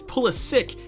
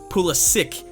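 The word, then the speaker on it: Pulisic: up in their ratings yes I did just pronounce pulit differently than I usually do it's pulik actually the other day I believe three days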